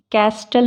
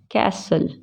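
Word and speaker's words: castle: अब इसी तरह से टी जब साइलेंट रहता है एल से प जब इसके जब यह एल से पहले होता है जैसे कि कस्टल नहीं पढ़ते इसको क्या बोलते हैं कैसल ब्रिस्टल नहीं बोलते क्या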